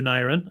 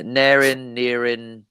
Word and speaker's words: Neirin: Yeah, Neirin. Rarely Neirin, unless someone's Welsh, and then they usually get it right.